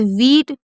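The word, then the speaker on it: wheat: तो इसको ईट पढ़ेंगे जैसे वीट वीट में क्या है एच साइलेंट है अगर कभी भी एच के बाद ई आएगा तो एच को नहीं पढ़ेंगे लेकिन डब्लू एच के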